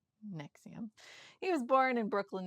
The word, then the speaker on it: NXIVM: Keith is the founder of the cult NXIVM, spelled NXIVM, but pronounced NXIVM.